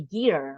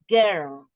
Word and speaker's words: girl: for example is more we don't say gear right we say girl we don't pronounce as I year no right we said girl in this yeah in